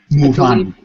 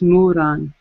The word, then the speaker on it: Muran: Muran. I believe that's the spelling. I'm not sure. It sounds like it's Muran.